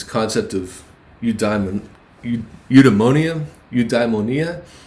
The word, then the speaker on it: eudaimonia: of eu diamond eudamonium eudaimonia i believe is a better pronunciation there and it actually turned